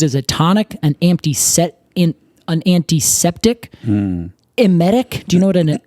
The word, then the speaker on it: emetic: And it's like emit is like in the word. Except it's spelled with an E. So an emetic is something that makes you emit, which I thought was fun.